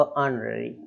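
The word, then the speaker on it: honorary: दोनों तरीके से बात हुई है तो उसमें साइलेंट क्या हो गया हमारा, एच। तो ऑनररी इस तरीके, ऑनररी ऑनररी सॉरी।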